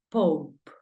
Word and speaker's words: pope: Pope. La pronunciación de papa es Pope. Sonido abierto de la O. Pope. Y la de final, pues ya sabes que no suena.